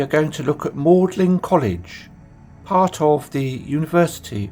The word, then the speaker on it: Magdalen: Today we are going to look at Mlin College, part of the University of Oxford. By the way, it's spelled Magdalin, but is pronounced Mlin.